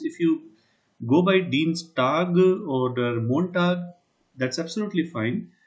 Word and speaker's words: Dienstag: So when you will be pronouncing it, so it has to be Dienst. Just see how I write Dienstag. This is how it will be pronounced. You can always say Dienstag, but in general, whenever you will be talking to any German, it will be Tag, Takh. Likewise, it will be Montag.